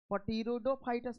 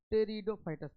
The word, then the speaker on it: Pteridophytes: टेरिडोफाइटस जो लिखा हुआ है ना, उसमें पटीरोडोफाइटस मत पढ़िएगा, टेरिडोफाइटस पढ़ते हैं, पी साइलेंट रहता है।